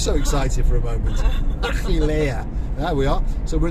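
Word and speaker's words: Achelia: It's the first time I've ever pronounced a Greek village correctly. Achillea. Oh, right. How'd you say it? Achillea.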